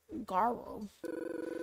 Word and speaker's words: Garro: I think in your language it would be pronounced Garro.